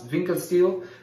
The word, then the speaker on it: Winckelsteel: how to pronounce it so I think is pronounce vincas steel and I just want